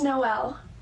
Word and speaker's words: Noelle: It's Noelle. You said Noelle? Yep, it's M-N-O-P because there's no L. It's not L-M-N-O-P. It's M-N-O-P. So, Noelle.